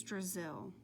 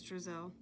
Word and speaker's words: Drizzle: "No, I said I wasn't from Brazil," said Miss Drizzle. "Have you ever been to Brazil?" asked Eric Fry. "No," explained Miss Drizzle. "It was just a little joke. Brazil rhymes with drizzle.